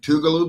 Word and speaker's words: Tougaloo: Have y'all ever played Tougaloo before?